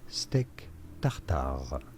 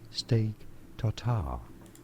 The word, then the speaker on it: steak tartare: For reference, in French in France it is said as steak tartare. Oh, come on! Therefore, in English, it is generally said as steak tartare.